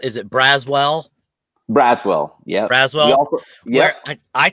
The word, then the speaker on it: Braswell: asked is because they everyone pronounces a brazzle also say it's one word what's your name mr brazil so i was just curious right well i think it's braswell as far as you're concerned right yeah that's awesome so